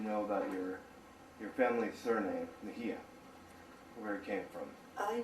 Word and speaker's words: Mejia: It's a very difficult name to pronounce here in the United States, and people say Mejia, but it's Mejia.